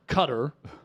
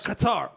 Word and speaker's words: Qatar: relative that lives in Cutter and they're pronouncing it in Arabic and it's a accent that I cannot pronoun but but it sounds like cut the emphasis is on cutter they're saying like qarar I'm not I'm not